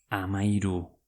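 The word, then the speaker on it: hamahiru: Euskeraz. Amairu. H-A-M-A-H-I-R-U. Amairu.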